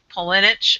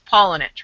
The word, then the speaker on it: Paulenich: It I said it Pollenich. And it's Pollinich, right?